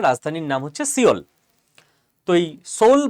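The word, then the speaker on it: Seoul: তোই সোল বা সিওল মানে নাম বানান সিওল।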